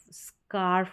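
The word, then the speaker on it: scarf: करके प्रोनाउंस करते हैं एक साथ एस और सी को स्क पढ़ा जाएगा स्क स्क और आर स्कार्फ बन गया मफलर जो होता है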